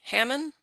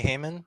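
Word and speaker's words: Hamann: allowing me to speak today thank you hammond uh hello can you hear me yes hi um my name is heyman it's spelled h-a-m-a-n-n oh um i've been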